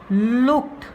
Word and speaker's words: looked: This is looked. D is pronounced here as T. The pronunciation is looked. T, not looked.